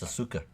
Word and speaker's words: Asuka: How is that pronounced Asuka? There's a U in there. That's Asuka. Right.